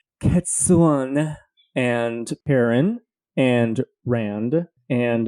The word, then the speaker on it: Cadsuane: I just was not expecting that pronunciation at all, so that got me completely off guard. I just say Cadsuane.